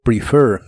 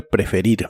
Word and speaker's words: prefer: La H se pronuncia como una J suave, have, have, y practicarás con el verbo prefer, que significa preferir. La primera e de esta palabra se pronuncia como i corta.